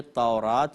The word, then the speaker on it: تورات: نے کہا کہ مجھے تورات میں رسول کریم صلی اللہ علیہ وسلم کی صفت بتائیے، یعنی وہ اوصاف بتائیے جو تورات یا توریت دونوں اس کے تلفظ ہیں، کہ توریت میں جو